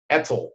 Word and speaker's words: ETCSL: I try to pronounce it as an acronym. Etzel. Etzel. Etzel.